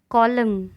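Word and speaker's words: column: Silent letter N. Autumn, autumn मतलब पतझड़। कॉलम, कॉलम यानी स्तंभ।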